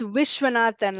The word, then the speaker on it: Wishan: than it looks uh it's wishan like making a wish okay what shanata yeah